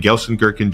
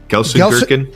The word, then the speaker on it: Gelsenkirchen: If you say it with a German accent, it probably sounds more like the actual city, but my American accent is Gelsenkirchen.